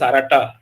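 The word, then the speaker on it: Aratta: No, the Mahabharata, actually the proper pronunciation is Arata.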